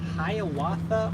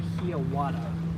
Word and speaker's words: Hiawatha: says don't forget the is it pronounced hiawatha or hiawada i believe it's the second one but the train that